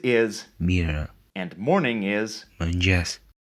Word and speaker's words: mëngjes: mëngjes, This letter represents a schwa sound, and you'll see this a lot in Albanian. But notice that it's reduced and almost not heard at the end of words. mirë, And notice that this digraph is pronounced as a palatal ja, similar to j, except that the tongue is retracted towards the palate.